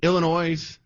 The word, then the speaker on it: Illinois: So we have the political apparatchiks in Illinois, I know the S is silent, sorry, New York, and now Massachusetts, pretty much the three bluest states, are the mouthpiece.